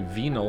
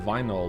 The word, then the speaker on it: vinyl: I don't know why I say venol instead of vinyl like you do.